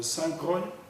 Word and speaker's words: Saint Croix: il détenaient trois hîes saintcro qui s'écrit Saint Croix en français saintcro Saint- Thomas et